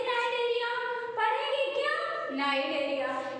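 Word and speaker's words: Cnidaria: सी नाइडेरिया, पढ़ेंगे क्या नाइडेरिया। ये तो आप लोगों को पढ़ने और लिखने का तरीका होता है कि इसमें क्या होते हैं सी साइलेंट हो जाता है।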